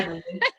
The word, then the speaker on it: Kleiderly: I keep wondering how you pronounce the name in English. What the name of what of my startup? Kleiderly. Yeah. Kleiderly.